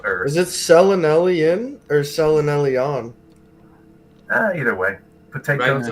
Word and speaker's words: selenelion: Selenelian. There you go. Selenelion.